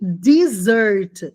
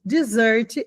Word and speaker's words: dessert: Então, dressing é o tempero e desert. Dessert é a sobremesa. Dessert. Com dois S, a pronúncia é desessert.